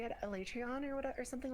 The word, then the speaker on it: Alatreon: like that, and then in the game's cutscene they call it Alatreon, and I'm like, that is the worst. That's the worst possible way you could have pronounced that spelling. Why did you do it that way? All my friends But say Elytrion, so I was just like, yeah, is that Elytrion sounds better.